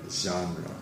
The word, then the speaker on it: genre: not so service genre genre is the pronunciation it might be a little bit difficult it's not John like the name j EI n 7